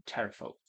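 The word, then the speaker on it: Pterafolk: tower, now home to terrafolk? Terrafolk as in with a silent P.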